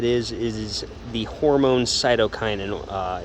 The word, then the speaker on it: cytokinin: a little update on our cytokinin experiment that is the correct way to pronounce it i figured it out cytokinin um so oh if